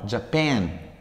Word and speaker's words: Japan: Japan, acá tiene dos sílabas Japón. Japan, está el acento en la parte que tiene pen. Japan, Japanese.